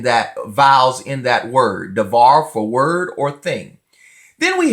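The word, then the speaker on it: דבר: of that bets so in Sephardic we would pronounce that as a V we have duh var devar you have to promise in that vowels in that word devar forward or thing then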